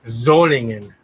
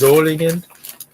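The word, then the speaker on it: Solingen: it burka and it's zolingen because s's are pronounced like a z in german so it's zolligen and uh it's not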